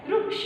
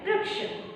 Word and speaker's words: वृक्ष: लेकिन मराठी में इसका याचं उच्चारण वृक्ष असं होतं. कसं होतं? वृक्ष. वृक्ष नहीं. वृक्ष हिंदी में होता है और वृक्ष मराठीमध्ये. कारण हा रूचा उच्चारण पूर्णपणे रूचा उच्चारण करायचं. रू की पूरी मात्रा, रू का पूरा प्रोनाउन्सिएशन करना है.